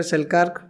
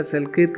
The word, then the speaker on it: Selkirk: आज बहुत सुंदर विषय पढ़ेबी अलेक्जेंडर सेल्कार्क। ताको कई अलेक्जेंडर सेल्किर्क भी पढ़ुंट किंतु प्रकृत में तार प्रोनाउंसिएशनटा हूँ सेल्कार्क।